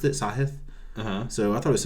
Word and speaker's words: Sahith: Hoagie and sahith so I thought it was a heath and I heard the interview afterwards Tom Hoagie I assume he knows how to pronounce it played with him you know for